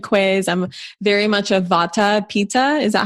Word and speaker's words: Vata Pitta: I'm very much a Vata Pitta. Is that how you pronounce it?